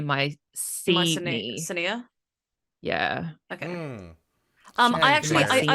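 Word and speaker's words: Mycenae: Also, apparently, Daniel mispronounces the name of the ancient city. He says, is it my Senia? It should be my Senia.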